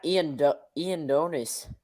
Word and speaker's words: Ioannidis: Matt Edonis, I think that's how you say his name. Is officially will be listed as Matt Edonis.